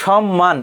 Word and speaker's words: সম্মান: শব্দের প্রমিত উচ্চারণ কি আমরা যখন উচ্চারণ করি আমরা বলি না তোকে আমি সম্মান করি সম্মান করি এজ ইউজুয়াল উচ্চারণ ছয় এর মত হচ্ছে না এখানে ছ এর মত হলে সেখানে আমরা দন্তস রাখতাম তাহলে এখানে সঠিক উত্তর দেখো কোথায় সেটা এইযে সম্মান এটি হবে আমি একটু লিখে দেই